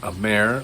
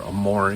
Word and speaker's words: Amare: well let's take a moment to talk about amer or amore depending upon how you want to pronounce it and it's the new hotel called